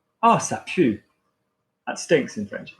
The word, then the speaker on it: pue: Ah, ça pue. That stinks in French. Am I top you or monkey ou? I am top you.